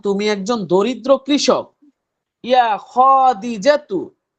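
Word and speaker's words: خديجة: ইয়া খাদিজাতু, হে ইয়া খাদিজা। এই যদি বলেন ইয়া খাদিজাতু, মনে হয় যে খয়ের পরে একটা আলিফ আছে, কিন্তু আলিফ কি আছে? জি আলিফ না। নেই। বলতে না। হবে ইয়া খাদিজাতু ও আচ্ছা।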